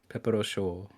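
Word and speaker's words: Pepperouchau: Pepperochau. Show. You don't call me Mom. Show. Yeah, show like hot is CHAUD, right? Yeah. I think it would be the same thing without the, the D is silent.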